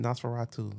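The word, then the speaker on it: Nosferatu: But yeah, that's how you say it. Naseratu. It's I had to look it up myself cuz I was saying like no two or something.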